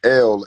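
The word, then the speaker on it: אל: in the beginning was yes God which is pronounced l in Hebrew so the word no is Canaanite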